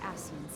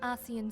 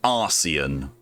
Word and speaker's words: Ascian: At present, we lack a viable means to entrap and extinguish an Ascian soul. Minfidia, I know, please. It sounded like she pronounced that Arcean.